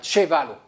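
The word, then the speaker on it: ĉevalo: Alors, cette lettre-là se prononce tso, donc citrono, et cette lettre-là se prononce tcho. Donc, ça fait chevalo.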